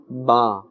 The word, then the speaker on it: ب: Ba must not be pronounced as Be. That is incorrect. The proper Arabic accent is Ba.